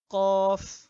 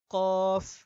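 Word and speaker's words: كاف: আচ্ছা, তো এটা হলো কাফ, কাফ। এটার উচ্চারণ আমরা বাংলাতে ক আকার কাফ এর কাফ এর মতো করতে পারবো।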